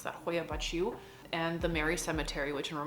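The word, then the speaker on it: Hoia Baciu: count dracula hoya bachu forest that's how you pronounce that hoya bachu and the mary cemetery which in romanian is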